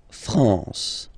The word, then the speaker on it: France: the m at all it's this nazal okay okay La France La France okay n here naal France okay we continue final